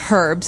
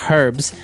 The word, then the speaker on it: herbs: Okay, so we can accept basically if somebody says herbs, but I guess in American English it's more commonly pronounced as a silent H.